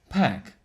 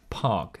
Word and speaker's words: Paak: about the bruno mars anderson park or pac how do you say it pack but it's p-a-a-k park i present to you park isn't it anderson park